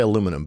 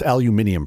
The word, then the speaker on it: aluminium: I was going to say aluminum, but silicon's probably better. It's pronounced aluminium, first of all, you heathen.